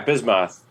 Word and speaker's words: Bismoth: Yeah, Bismoth and Jethro.